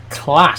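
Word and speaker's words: Claas: they're just're they're okay it's pronounced like class says Ben I've always said CL and like every everyone else that I've known who's worked on farms like said it as CLA so I don't know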